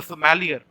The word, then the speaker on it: sommelier: food and beverage service department who is a sommelier a person who serves wine is a somalia